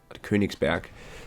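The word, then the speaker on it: Königsberg: version of the kernigsberg I would be uh clinics back let's pronounced it correctly not in English the the koenigs back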